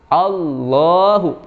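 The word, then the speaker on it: اللهُ: Nah, lafaz Allah yang Bapak baca sekarang ini masuk kategori lafzul jalalah tafhim, dibaca tebal. Ayyasha Allahu. Allahu. Berat dibacanya, tebal.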